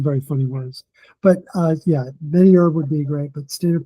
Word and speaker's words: MediHerb: I know they have a Mediherb, alliance. yeah. No, it's MediHerb. Don't pronounce the H.